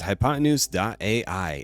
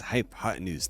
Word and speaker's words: Hypotenuse: rights number four is hypotenuse.ai and yes it's pronounced as hypotenuse not hypotenuse like I've seen other content creators say take a math class